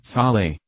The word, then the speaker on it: sole: regulate hydration when consumed as a sole pronounce Sally - a brine solution